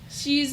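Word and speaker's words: Sidhe: be playing eliana sinclair she's a okay i keep forgetting how to say this is it she or sid she she s i d h e changeling she's part yeah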